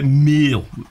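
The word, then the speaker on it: mille: called R pm and it's actually Revenue per meal meal is like mile spelled with two L's at first when I saw all this I thought Revenue pay mile what's that yeah meal is just French for 1,000 so RPM is revenue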